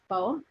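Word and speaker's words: phở: So in Canada, the Vietnamese soup, we pronounce it pho. And here, I think you guys pronounce it pho.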